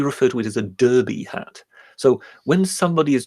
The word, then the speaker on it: Derby: to it as a derby. So not only do they name it after a town in England, yes, right, but they even mispronounce it. Yes, it's Derby, not Derby.